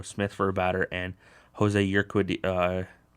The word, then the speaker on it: Jose Urquidy: for a batter, and Jose Urquidy, I think is how you pronounce his name, for 2/3 of an inning. Yeah, I don't have the way to say his name. Jose Urquidy, who pitched well in